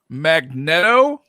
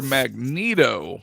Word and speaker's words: Magneto: us up with somebody here's one magneto or magneto magneto yep i'm with you magneto that's another one i've heard people like magneto cheesy it's because it's magnet they're like a magnet